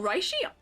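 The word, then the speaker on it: Reishi: Oh, Rishy is spelled R E I S H I. I think Rishy.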